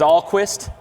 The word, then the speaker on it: Alquist: I'm going to let you guys know I mispronounced his name. It is Alquist, Tommy Alquist.